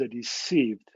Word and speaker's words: RSCBD: up this name, but we pronounce it as a received. Once we started it, and somebody found RSCBD could be read as a received, and received is the final goal of resource sharing.